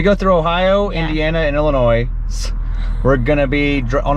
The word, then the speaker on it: Illinois: i told him it's illinois the s is silent so now i get illinois because he's making it